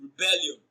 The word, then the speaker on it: rebellion: Option D, rebellion. Rebellion is stressed on its second syllable as rebellion.